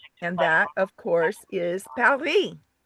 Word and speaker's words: Paris: And that, of course, is Paris. We didn't pronounce it right, though. Paris. Oui. No soup for you. P-A-R-E-E. Something like that.